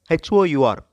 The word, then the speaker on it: hour: work and are before h.o.u.r however in solo qra the h is silent and r before i